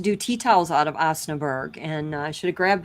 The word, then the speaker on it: Osnaburg: I'm saying it wrong, Osnaburg. Osnaburg is how I say it. Yep, that's pretty close.